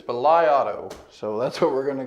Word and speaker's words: BLIAUTO: our good friends at belai Auto hopefully I'm saying that right I have done some extensive search to find out how to pronounce them I believe it's belai Auto so that's what we're